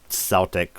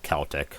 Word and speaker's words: Celtic: The Irish economy can be considered something of a Celtic or Celtic, however you want to pronounce it, tiger.